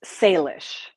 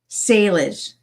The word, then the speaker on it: Salish: No, of course it's Salish. Salish. S A L I S H. It's you know, it's obviously different language. So, it it is hard to sometimes translate it from English and to know how to pronounce the A, but it's Salish.